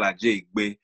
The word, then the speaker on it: Ajeigbe: So my name is Ajeigbe. But if you pronounce it with the accent, it's Ajeigbe with the Nigerian accent.